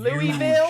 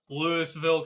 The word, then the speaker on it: Louisville: up I think you mean Louisville you mean Louisville just triggered so much within me he talked about that Lewisville Kentucky Eli you're saying it wrong too shut up best part